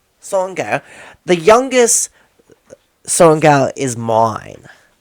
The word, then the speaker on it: Sorrengail: said to them, the youngest, how do you pronounce the last name? Sorrengail. Sorrengail.